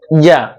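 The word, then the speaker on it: ي: তারপর হরফ হলো ইয়া। ইয়াটা উচ্চারণ করতে হবে জিহ্বার মধ্যখান উপরে তালুর সাথে লাগিয়ে তারপর উচ্চারণ করতে হবে এবং কোনো বাতাস বের করা যাবে না।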